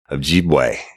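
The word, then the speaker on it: Ojibway: But it's Invisible Choir, and its host is Michael Ojibwe, and that's O-J-I-B-W-A-Y. And he says his name, he pronounces it just like it's spelled, right?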